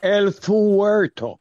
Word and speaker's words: El Fuerto: It's El Furto or El Furto. Fuerto. Fuerto. I want to come up with that name there. No. El Fuerto. Fuerto. Spanish.